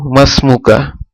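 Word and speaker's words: ما اسمك: যখন কোনো শব্দ আসবে তখন হামজাতুল ওয়াসিল উচ্চারণ হয় না। তাহলে এখানে আমরা কি পড়ব? মাসমুকা, যে আপনার নাম কি।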